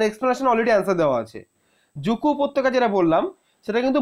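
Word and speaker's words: Dzuku: নাগাল্যান্ডে এবার এই যে জুকু উপত্যকা যে স্পেলিংটা কিন্তু ডি জেড ইউ কে ইউ ডি টা কিন্তু উচ্চারণ হয় না ভালো করে বলছে কিন্তু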